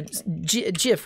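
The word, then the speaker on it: GIF: uh bmps yeah uh jif with a soft g yes that's a good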